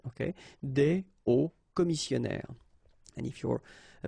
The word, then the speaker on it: hauts: And if you're a bit careful, you can hear that un haut commissionnaire and des hauts commissionnaires, well, clearly it is pronounced the same way. So you put the S at the end of both things here, okay, but then you don't pronounce them.